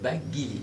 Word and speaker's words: Baggili: Bagili ou Bagili? C'est Baghili. Baghili.